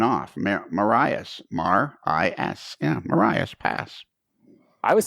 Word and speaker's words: Marias Pass: that just went off maras Mar I yeah Marias pass I was saying it wrong for years I